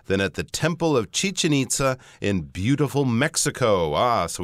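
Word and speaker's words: Chichén Itzá: And, of course, Westerners pronounce this as Chichen Itza, but if you're in Mexico, they'll pronounce it as Chichen Itza. It'll be slightly different.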